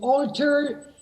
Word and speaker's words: alter: To alter your size, for example. Alter is dark.